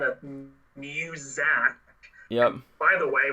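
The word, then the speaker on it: Muzak: It's pronounced music. Who cares? Because we're going to pronounce it music, because I think of Sound of Music, and I think of the musical Sound of Music, and no way.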